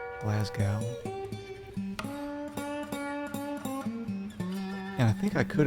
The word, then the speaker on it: Glasgow: Oh man, I bet everyone pronounces that wrong. Glasgow.